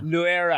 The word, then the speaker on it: Luera: say your last name luera luera i don't know if the if the l was silent or not yeah so no yeah full on l um i i